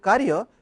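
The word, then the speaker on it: कार्य: I would like to remind you that when I said Karya, since it is a Ka, the pronunciation is Ka, above the A there is a line. In the same way, it is a Sanskrit, we have to pronounce and we have to write it.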